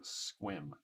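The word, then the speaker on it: Sequim: markets also okay oh shauna says squim is pronounced like squim oh okay paige is in olympia as well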